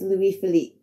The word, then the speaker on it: Louis Philippe: I do know my pronunciation was completely wrong. In my defense, I just watched a movie with Ryan Philippe in it, so I guess he was on my mind a bit. I am sorry for the mispronunciation. It's Louis Philippe.